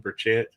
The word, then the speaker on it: Burchett: this is Representative Tim Burchett and Burchett. Sorry. It's all right, brother. Nobody You know, gets it you know, right. you know how we Tennesseans are. We like to draw out syllables, Burchett.